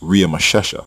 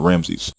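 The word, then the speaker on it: Ramesses: the royal name Ramsey in which was actually pronounced RI mashesha by native Egyptian speakers not Ramsey the Egyptian name in Genesis 4711 and exodus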